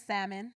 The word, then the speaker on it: salmon: it shows creativity I what I hate is the pronouncing the pronouncing of the L and salmon okay I can't that's